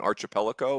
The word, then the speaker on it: archipelago: you, or maybe an archipelago, or what? A tributary? You try that pronunciation again, Coach? Archipelago? How do you do it? Did I skip a syllable? I think it's a hard K sound.